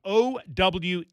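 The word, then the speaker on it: Oweh: He spells his last name O-W-E-H. It's pronounced Owe.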